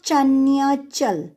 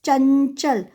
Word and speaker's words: चंचल: इट्स नॉट चन्याचल. So nya won't be fully pronounced. It's chanchal, only half pronounced.